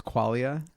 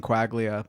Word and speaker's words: Quaglia: to your rep well I say it with a silent G that that's how it would be pronounced in Italian is qualia so just kind of rolls you know I grew up saying quaglia but then changed it